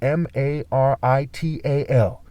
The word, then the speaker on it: marital: The word martial, okay, M-A-R-T-I-A-L, is the word marital, M-A-R-I-T-A-L. And the word marital, as in marriage, sounds like the word merit.